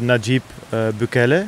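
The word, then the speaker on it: Nayib: talking about the current president we're talking about najib yeah do you pronounce it correct yes it's correct okay yeah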